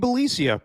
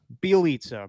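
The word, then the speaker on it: Bjelica: Belicia? What'd I call him? Belicia, my bad. I'm all off today, Steven. Bielitsa, my bad. I always mispronounce his name.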